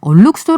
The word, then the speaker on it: 얼룩소: 합니다 오늘 경제 탐사 a 쑤 라고 써있는데 얼룩소 라고 읽어 달라고 하셨어요 얼룩소 에디터 싼 d